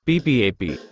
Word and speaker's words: PPAP: Hi guys, Home Appliances Advisor presents what is Production Part Approval Process, PPAP. PPAP, pronounced P-PAP, is a design or